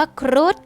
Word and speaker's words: ครุฑ: พยัญชนะ ตัว ดอเดก ค่า คำ ว่า ครุฑ ทอ นาง มณโฑ เป็น ตัว สะกด ค่ะ แต่ ออก เสียง เป็น พยัญชนะ ตัว โดน เด็ก เช่น กัน ค่ะ คำ ว่า สัตว์ หา